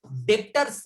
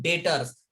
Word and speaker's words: debtors: ने स्पेलिंग लिखा है इसका DEBTORS, डेप्टर्स। डेप्टर्स का मतलब क्या बता रहा मैं, डेप्टर्स नहीं बोलते हुए इसे क्या बोलेंगे हम, डेटर्स।